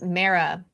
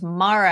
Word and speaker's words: Mara: In my head, it's Mara. And then I was like, oh, it's Mara.